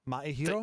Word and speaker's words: Maehiro: Maehiro? The E is silent.